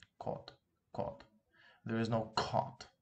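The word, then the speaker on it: к: All right, but in English, whenever you pronounce this sound, uh, at the very beginning of a sentence, let's say of a word, it usually comes with an aspiration, right? For example, if you say cat, cat, you pronounce it a little bit with some force, right? You give it some aspiration, cat. But here we don't need any aspiration at all.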